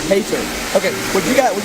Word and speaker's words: Heitor: Your name pronounced Heitor? Heitor. Heitor.